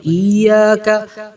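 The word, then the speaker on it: إياك: Nah, cari jadi cara baca yang benar adalah ketika kita baca ini, iyaka fokuskan aja dua harakat, udah enggak usah terlalu dimacam-macamin.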